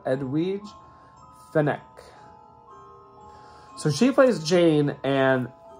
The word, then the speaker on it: Edwige Fenech: so they said that in Italian you would pronounce that edwidge the neck so she plays Jane